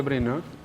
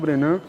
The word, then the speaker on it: Brennand: nós que na verdade a família brennan não é de origem francesa é de origem inglesa então houve um afrancesamento na pronúncia aqui no Brasil né passou falar bem né